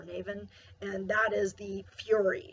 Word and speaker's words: Nemhain: It's spelled Nemhain, and I believe it's pronounced Nevin or Navin, and that is the Fury.